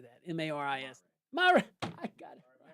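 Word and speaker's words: Marist: M A R I S.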